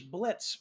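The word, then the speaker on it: Blitzø: his name was pronounced blitza which is apparently how it was originally pronounced he has since decided he's going to just not pronounce the O in his name so Blitz basically gets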